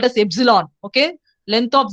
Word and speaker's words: epsilon: And here, one important string you have to know, that is the empty string, which is denoted by epsilon, which is pronounced at epsilon.